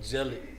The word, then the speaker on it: gelid: my word of the week is uh jelly jelly jelly uh spell it for me g-e-l-i-d meaning extremely icy or